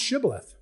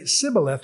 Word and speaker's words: Shibboleth: There's an S, but no SH sound in their articulation. So if you ask them, are you an Ephraimite? They say, no, not us. They'd say, pronounce Shibboleth.